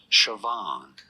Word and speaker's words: Siobhan: How do you go about pronouncing it? Siobhan.